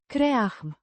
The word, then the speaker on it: creăm: Kre-ahm. With the emphasis on the first syllable, and a similar Ah. sound to the A. in. Father.